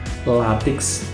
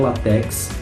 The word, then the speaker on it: látex: né gratuito não gratuito látex não latex latex é marca pela